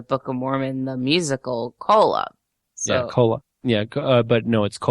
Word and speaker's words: Kolob: How is that pronounced? Kolob? Kolob.